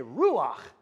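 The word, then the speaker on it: ruach: the word for wind say Ru like you're spinning R say it again again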